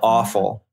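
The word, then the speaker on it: offal: that's it's called o it's spelled o f f a l awful oh my gosh well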